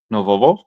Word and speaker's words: нового: Novovo.